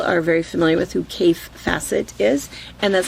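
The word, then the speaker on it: Kaffe Fassett: A lot of people, I think people who have been quilting for a while are very familiar with who Cafe Facet is. And that's how you pronounce his name.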